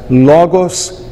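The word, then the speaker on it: λόγος: termos Cairo e Soter poderá estar na penúltima sílaba como nas palavras Logos e pistis e também poderá estar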